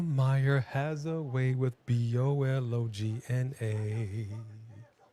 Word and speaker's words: Bologna: Because Oscar Mayer has a way with BOLOGNA. And I just flipped it for Italy. But it's actually pronounced different. Bologna.